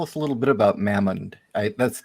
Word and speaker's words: Mammon: don't you tell us a little bit about mammon i that's how you pronounce it right mammon yeah it's um god or demon right demon